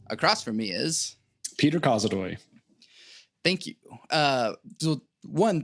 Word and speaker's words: Kozodoy: covered the name part everyone pronounces my last name incorrectly uh it's causadoy i get code uh i've had i've had people say it backwards i don't really i